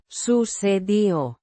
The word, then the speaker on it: sucedió: Pronounced. Sucedió. The K. before E. sounds like the S in sun, and the D is softly pronounced.